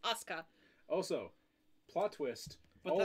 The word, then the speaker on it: Asuka: Japanese, you don't pronounce the U. yeah. If it's like that, if it's in the middle, you don't pronounce the U unless it's at the end. So it's just Asuka.